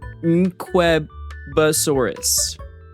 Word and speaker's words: Nquebasaurus: Yes, that's how you say it. Nqueba. Okay? So you pronounce the N and the Q. Nquebasaurus.